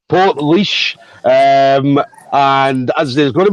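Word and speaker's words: Portlaoise: that name right because i've been saying that name wrong since the very start so port leash um and as there's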